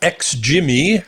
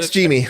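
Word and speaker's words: XGIMI: to last is uh X jimy I think that's how you pronounce it xgy yeah xgy XG Mii the AA 2 MH so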